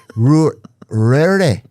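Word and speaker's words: Ruaidhrí: Rory. That's nice. Yeah, Rory. Oh, Rory. Rory. That would be like Rory. DH would all like it's like silent.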